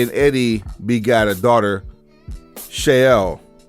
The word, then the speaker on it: Shaul: Vicky and Eddie begot a daughter, Shael or Shaul, as it's pronounced in Espanol.